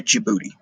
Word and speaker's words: Djibouti: countries is and yes this little tiny one is pronounced 'da Djibouti okay moving on all right